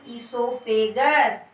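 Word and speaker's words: oesophagus: O is silent here, hence it is known as esophagus.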